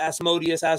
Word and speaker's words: Asmodeus: They battle Asmodeus, and he's the king Asmodeus. Yeah, some people pronounce it Asmodeus, whatever, but he's the king of hell who